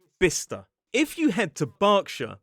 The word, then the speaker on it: Bicester: I looked at it and I said bice which makes total sense. It looks like bice but it follows the pattern of places like Leicester and Glouester and it's pronounced bister.